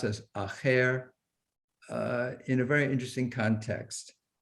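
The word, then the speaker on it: אחר: this use of this word uh alef uh pronounced as acher in a very interesting context and that is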